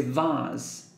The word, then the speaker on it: vase: to the door behind the vase or even say Vaz the little yellow duck